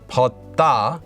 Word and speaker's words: 벗다: Now this is pronounced as 벗다 due to sound change rules, and this one can be used for almost everything.